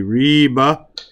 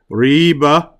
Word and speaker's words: riba: zenet there's a difference we have to pronounce the words rightly like we say Reba riba is doubt whereas is what is